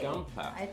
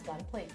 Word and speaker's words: Gunpla: bought me three okay how do you say gunpla is it gunpla I think it's Gunplay okay um um kid or